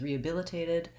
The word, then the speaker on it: rehabilitated: through rehab and has rehabilitated our syllable stress changes and we have stress on the primary stresses on the bill syllable we have a secondary stress on that first syllable the re re because it makes it